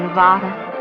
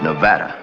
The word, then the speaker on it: Nevada: You dance very well for a man from Nevada. By the way, that's pronounced Nevada. I notice you give it the broad ah. I prefer it to a dreadful flat ah.